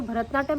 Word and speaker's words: भरतनाट्यम: Wrong spelling लिखते हैं, वो लिखते भारत, हाँ वही मैंने बोला भारतनाट्यम, भारत और नाट्यम लिखते हैं, वो भारतनाट्यम नहीं है, वो भरता है। भरता यानी कि भरदा, प्रोनाउंसिएशन इज भरदा, तमिल भरतनाट्यम।